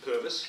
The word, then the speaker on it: Purves: well as I said the name is pervis it's spelled es it's pronounced is and everybody gets